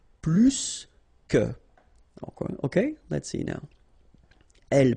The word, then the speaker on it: plus que: in that case, remember, plus will be with the S. So pronounce it plus que.